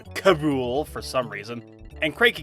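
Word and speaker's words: K. Rool: in this show are King K role which is pronounced Cabool for some reason and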